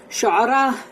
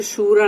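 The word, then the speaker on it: الشعراء: के ऊपर था और शूरा बोलेंगे ना तो वो कंसल्टेशन है यानी कंसल्टेशन तो वह गलत हो जाता है कि यहां पर मतलब स्पेलिंग मिस्टेक गलत ी शूरा लिखा हुआ था तो मेरे मुंह से शूरा निकला लेकिन वह शूरा नहीं है व व शरा है वह करेक्शन मुझे करना था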